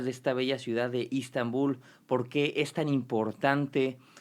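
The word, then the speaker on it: İstanbul: Estambul, o como pronuncian los turcos Istambul, es la capital cultural y administrativa de nuestro país con más de 16 millones de habitantes.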